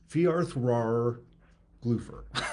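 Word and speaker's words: Fjaðrárgljúfur: It's pronounced TH. So Fiarthrar Glúfur.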